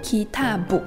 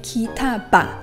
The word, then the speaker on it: kitabu: Take the word book as an example. When it is used as the subject, it is pronounced Kitabu. When it is used as the object , it is pronounced Kitaba . When it is used as the genitive case, for example, it is pronounced Kitabi.